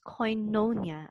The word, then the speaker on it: koinonia: natin So Ito po Okay so it is pronounced as koinonia Okay so It's a Christian Fellowship so agag